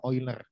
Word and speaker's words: Euler: Ini bacanya adalah Euler.